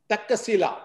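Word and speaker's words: Taxila: take one by one takila that is a pronunciation I learned which means is a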